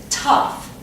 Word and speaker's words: tough: Okay, this word, we pronounce it tough. It sounds just like cuff, but as you can see, they're spelled totally different.